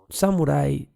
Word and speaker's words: samurái: que tengo aquí en la pronunciación romanizada correcta sería en plural los samuráis con es el final acento en la en la escritura románica siendo que si se pasara directamente del japonés sería samurái sin plural y sin